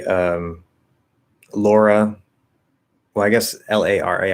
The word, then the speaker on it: Lara: laura well i guess l-a-r-a i would say lara but i can also pronounce l-a-u-r-a-lara lauren right some people might say